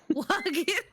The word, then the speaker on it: Sahuagin: pronounce this? The Sahuagin. Sahuagin?